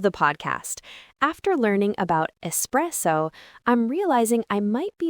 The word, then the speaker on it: espresso: Remember, it starts with an S. Repeat after us. S press O. Again, with the stress in the middle. Express. Great. Now at a normal conversational speed. Espresso.